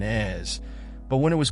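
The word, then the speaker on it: Èze: Pronounced correctly sounds like Nice and Ez, but when it was called over the intercom, no one moved.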